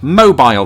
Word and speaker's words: Mobile: wouldn't make any sense so number two is mobile which comes up a lot in conversations about the differences between British and American English mainly because of course Americans use cell phones British people use mobile phones but that's not where the difference is